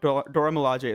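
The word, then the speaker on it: Dora Milaje: of the other members of the Dora Malia Dora Malai I don't know how how it's pronounced my bad but um and she Dora Malaj. Dora Malaj. Dora Malaj is correct.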